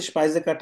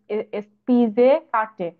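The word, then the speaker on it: Speisekarte: ভাইয়া এটা উচ্চারণটা কি এরকম হবে? স্পিজে কাটে। স্পাইসে কাটে। আচ্ছা, স্পাইজে কাটে। স্পাইসে কাটে। আচ্ছা, গুড।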